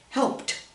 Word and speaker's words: helped: Here's P, that's a voiceless sound, so it's helped, not helped, helped, helped.